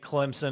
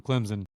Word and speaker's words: Clemson: for my throat because I pronounce them Clemson all the time they said there's no Z in Clemson so I'm just going to start pronouncing it like dbo does Clemson uh I've got Clemson